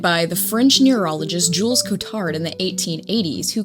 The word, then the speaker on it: Cotard: Maybe I can shed a little bit of light on you for Kotard syndrome. And that is how Google told me to pronounce it. I would I would call it codard syndrome, but I I believe it's codards.